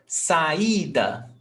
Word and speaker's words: saída: Saída, before last. So all these words, they are called paroxytonas. And you see that saída has the accent mark, but rainha doesn't.